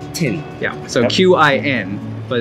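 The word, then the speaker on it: Qin: corner of this hidden restaurant called taste of kin taste of tin taste of tin even though there's a queue it's pronounced tin yeah so q-i-n but it's pronounced this plaza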